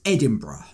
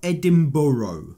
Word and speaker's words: Edinburgh: views from Edinburgh and yes it is pronounced Edinburgh not Edinboro I'm taking her to